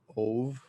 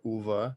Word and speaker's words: Ove: I read a man called Ove or Uva. I think it's pronounced Uva. It's a Swedish name.